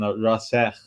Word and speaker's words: Rassekh: Is the English pronunciation. Rassekh would be the Persian Arabic pronunciation.